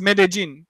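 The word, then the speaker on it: Medellín: you tell us about Columbia but apparently it's pronounced minnijean so we're making images a marine but there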